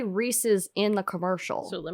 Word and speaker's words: Reese's: Reese's? Reese's? Yeah, see, I don't like that. Apparently people on the East Coast call them Reese's. That's not correct. It's Reese's.